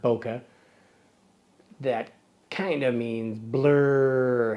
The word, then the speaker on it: bokeh: of Boca no well Boca is derived from a Japanese transliteration of a word Boca that kind of means